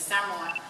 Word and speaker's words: Samoa: experience moving from Samoa, what we would call Samoa, but the correct pronunciation is Samoa, in the Pacific, the